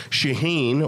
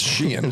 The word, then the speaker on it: Shaheen: Sweet Tooth Annie Bakery Ariel Shaheen or is it shean uh shean I think it's sheen sheen oh Sheen there we go if you need to